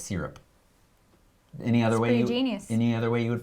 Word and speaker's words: SYRP: I think you say it's Syrup.